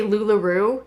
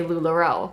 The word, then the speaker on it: LuLaRoe: said that wrong like i like to say lulu rue just to bother it like because it upsets people that i don't say lularoe but i love to purposely mispronounce it i don't pay too